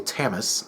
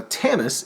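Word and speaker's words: Tamas: and the field Marshall tamis I I think I'm pronouncing that right it's t m a s so I could be wrong he leads a rebell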